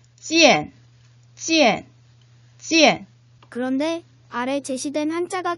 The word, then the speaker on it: 见: 음모구를 이엔으로 발음을 해야 되니까 사성의 찌엔이라고 발음을 하셔야 되겠네요. 원어민 선생님의 발음을 잘 듣고 눈으로 익히면서 3번 따라 읽어보도록 하겠습니다. 见见 찌엔, 찌엔, 찌엔.